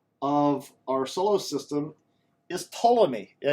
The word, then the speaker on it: Ptolemy: our solar system is Ptolemy. Yeah, you don't pronounce the P, it's Ptolemy.